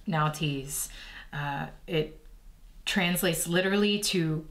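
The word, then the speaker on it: Nauthiz: which we have nties let me just make sure I'm pronouncing that right here okay yep now tease uh it translates literally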